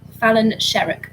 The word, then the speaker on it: Fallon Sherrock: That was Fallon Sherrock. Is that how you pronounce it? Yeah. Fallon Sherrock for question 6.